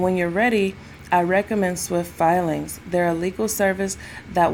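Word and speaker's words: Swyft Filings: And when you're ready, I recommend Swift Filings.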